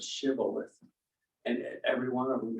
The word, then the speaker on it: shibboleth: they couldn't pronounce it they couldn't put the H in there so they said sibilant instead of shibboleth and every one of